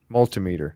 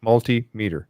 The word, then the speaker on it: multimeter: who said that janet multimeter that's what i call it multi-meter multimeter yeah accent is always on the second syllable all right when you